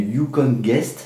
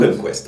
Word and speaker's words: Yukon Quest: Nicolas Vanier, dans La Grande Course, vous racontez, alors dans l'affaire du Yukon Guest, c'est comme ça qu'on prononce ? Yukon Quest, ouais.